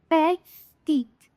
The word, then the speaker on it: petit: जैसे पैटीट, PETIT. पैटी ना बोल के अ टी बोलेंगे. अ टी. पर टी. टी हमारा जो लास्ट टी है उसको हम प्रोनाउंस नहीं करेंगे.